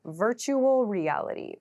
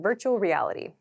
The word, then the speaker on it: virtual reality: Virtual reality. So this is pronounced virtual virtual at native speed this sounds like virtual reality. So these R and L sounds kind of connect virtual reality.